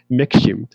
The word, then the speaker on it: Maxim: all that, people drank what's the brand called Maxim, or in the Korean pronunciation, Mikshim.